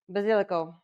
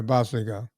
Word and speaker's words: basilico: Basilico. Yeah, basilico. Yeah. Let's do it right. If you're going to be Nona, you got to do it right. Italians pronounce it basilico. Yeah. Not basilico. We call it, well, I grew up in Cajun land.